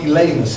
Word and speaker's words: Elymas: But so we call him Elymas is the appropriate way to pronounce him.